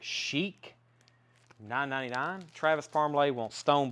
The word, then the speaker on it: Chic: Cheek, or as some people say, Chad, you should pronounce it, Chic, $9.99.